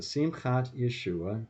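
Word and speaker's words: Simchat Yeshua: years y e s h u a so sim khat yeshua it's actually all one word dot org for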